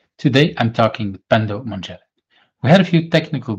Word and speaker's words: Manjele: Pendo Manjele, is that the right way to pronounce the name? Yes, Manjele is the Manjele. Yes, correct. Yes.